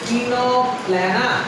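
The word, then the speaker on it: Ctenoplana: প্লিউরোব্র্যাঙ্কিয়া, টিনোপ্ল্যানা, এই সি দিয়ে বানান শুরু হয়েছে কিন্তু দেখো বানানটা এরকম আছে টিনোপ্ল্যানা, तीनों प्लाना।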